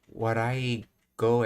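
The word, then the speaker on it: 笑い声: Oh, warai goe, as it's pronounced.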